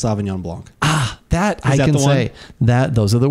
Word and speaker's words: sauvignon blanc: help you out here help me out it's pronounced sauvignon blanc ah that those are the words okay thank